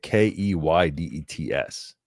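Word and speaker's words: Keydets: But it's not spelled like cadets. It's K E Y like D E Yeah. K E dets, but it's a Virginia Military Key dets.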